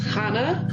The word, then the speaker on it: Chana: Right, it's pronounced Chana. Chana. Because it's a Hebrew name. In English, it would be Hannah, like Hannah. with just an H.